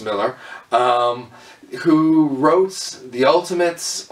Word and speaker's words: Millar: Miller um Mark Millar it seems it would be pronounced with the a at the end but it's pronounced Miller um who wrote the